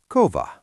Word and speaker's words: kova: So if you see the word for heavy or hard, it is kova. Because it has a V, you know it will always be a single quick beat.